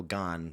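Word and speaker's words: Gane: uh there's that fighter now his name's cyril gone but it's it looks like gain but it's pronounced game but it's gone yeah so maybe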